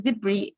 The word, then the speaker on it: debris: So Isleal, pronounced the same. Another word. The word debris, which means debris, which is the S at Debris.